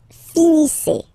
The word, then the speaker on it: finissez: Vous finissez. Vous finissez. Okay, a Z at the end gives you the sound A. Okay, finissez, finissez.